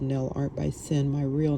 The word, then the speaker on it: Cynn: She says, "You're gonna call yourself Sin, like a sin?" And I said, well, no, I didn't think of it that way, but I'll spell it Cynn, but it's still gonna sound like sin.